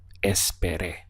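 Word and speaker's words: esperé: ba s there a it's very important that you stress this final accent here over the e in order to be understood espere this means I waited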